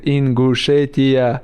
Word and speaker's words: Ingushetia: I was there, and Bruce Buffer come to me and ask me how I say the Mosar. He from Ingushetia. How I say Ingushetia? I told him like you have to Ingushetia, and he do something right and say Ingushetia. He said it right.